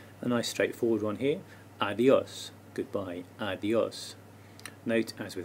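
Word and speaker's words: adiós: the o of adios adios this helps us tell where the stress is adios three more informal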